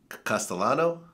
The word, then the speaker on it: Castellano: man you had a situation with a Paul Castellano yes am i pronouncing it correctly that's correct yes okay and